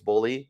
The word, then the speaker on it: Bohle: First of all, even though his name's not spelled Bully, it's spelled Bohle. And I was informed by his family it's Bohle.